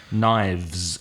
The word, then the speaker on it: knives: plural has of the knives and then you get vibration in your throat in your garganta so it's nice and